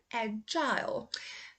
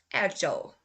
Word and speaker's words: agile: So as you can see, the difference here is in UK, they say agile. US, it's agile.